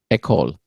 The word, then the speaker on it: École: École.